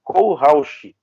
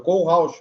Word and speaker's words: Kohlrausch: Eu sempre chamei você de Marcelo Kohlrausch. A pronúncia tá certa? Certíssima. É só tu separar Kohlrausch. É isso aí. Oh, perfeito. Acertou. É difícil acertar, viu? É difícil. Mas tu acertou. É o Kohlrausch mesmo.